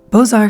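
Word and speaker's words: Beaux-Arts: City citycape these are bozar style buildings boar which is spelled kind of like books Arts was old school it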